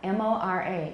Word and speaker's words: mora: we don't call each of those units a syllable. We call them a mora, M-O-R-A.